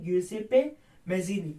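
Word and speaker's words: Giuseppe Mazzini: अंदर जिनका नाम था ग्यूसेपे मेजीनी। आप उसकी स्पेलिंग पे मत जाइएगा, आपको जैसे लिखना आप उसको वैसे रीड करो, ग्यूसेपे मेजीनी।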